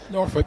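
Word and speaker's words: Norwich: of his friends is from noruk did I pronounce that correctly norf yes as this delivery from Reese topple on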